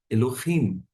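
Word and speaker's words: אֱלֹהִים: Bereshit, bara, Elohim, et. Eu não falo et, porque eu sei onde está a sílaba tônica.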